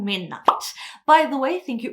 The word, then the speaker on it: 12:00: how to pronounce them so it's called midnight not 1200 so thank you all